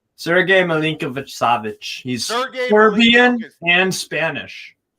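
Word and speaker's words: Milinković-Savić: How do you pronounce his name? Sergej Milinkovic-Savic.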